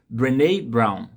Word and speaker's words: Brené Brown: Não sei se você já leu esse livro, mas é de uma autora americana chamada, a pronúncia é até assim, Brené Brown. É a pronúncia do nome dessa autora.